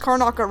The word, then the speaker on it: Karnaca: And I was actually really happy whenever I found out that I pronounced Karnaca right the first time.